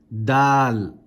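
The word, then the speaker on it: دال: Dal.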